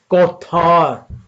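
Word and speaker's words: כָּתַר: Number उसका 3803 है और ये कौथार प्रोनाउंसिएट होता है।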